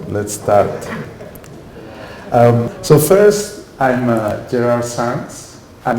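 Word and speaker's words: Gerard Sans: start so first I'm Darryl Sannes I'm not French I know my my name sounds very French but I'm originally from Barcelona so my name it's pronounced sands this is Catalan in French I don't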